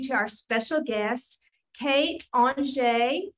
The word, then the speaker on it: Anger: our special guest, Kate Angé. I know when you saw her name, you were thinking it was going to be pronounced another way, but she told me her father was French.